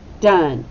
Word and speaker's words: done: how many sounds three we have duh and it sounds like a short u but it's an o in e so very tricky very very tricky okay it starts with a then sound the o sounds like what yeah short u so we mark it with a brief and then we hear the n and the e is completely silent done but it's spelled